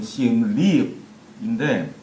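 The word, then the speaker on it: Siem Reap: 정확한 발음으로는, 여기 현지 발음은 시엠립인데, 최근 10년 동안 이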